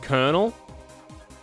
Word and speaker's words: colonel: Pronounced colonel? Where's the cur sound? In that sense. Where's the cur sound in that sentence? So coal. Coal. But there's no L until right at the end.